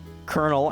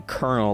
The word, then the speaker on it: Kernal: So Kernal, as in like the rank, which starts with a C and is spelled like C-O-L. Yeah. You know, whatever. And then Kernal, like popcorn, like a corn kernel. K-E-R-N-A-L. So that's Kernal.